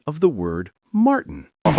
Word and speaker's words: Martin: There's actually only one natural pronunciation here, the choking sound, which in linguistics we call a glottle stop.